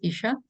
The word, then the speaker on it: Yssah: already introduced me uh my name is Isha and or Isa you can pronounce it as you wish and well um mostly